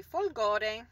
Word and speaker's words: Folgore: Folgore.